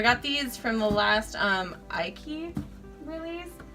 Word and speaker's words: Aiky: So I got these from the last Aiky release. That's how you say it. I still need confirmation on that. It's like crikey, because she's Australian. Aiky.